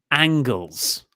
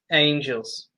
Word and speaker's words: Angels: After that, we got Alan 5 Angles. Angels. Oh. Said it wrong a few times. Was I at least consistently wrong? You said angles every time. Damn it. Angels. More than angle.